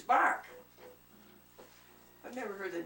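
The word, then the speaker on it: Burke: I said, "Well, how do you spell it?" He said, B-U-R-K-E. Bark.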